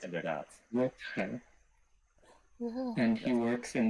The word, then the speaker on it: Rutger: How do you pronounce it? Inderdaad. Rutger.